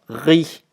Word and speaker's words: riz: Je dois dire riz sans S, riz, vert, blanc, habit, vêtements, tricot, gants. Les lettres à la fin du mot ne se prononcent pas et donc qu'on ne prononce que le principal.